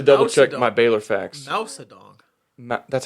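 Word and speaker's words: Mao Zedong: I need to double check my Bor facts madong that's how it's pronounced ma ma zong yes but I just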